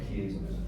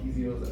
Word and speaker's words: piezo: When it comes to piezos. Yeah. Yeah, I'm saying it wrong. Piezo's, I like to say piezo. We put the yay in piezo.